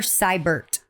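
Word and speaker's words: Sybert: CUO kach girl cybert is is the bitch's name cybert yes like a Cy Borg kind of like cyber but with a say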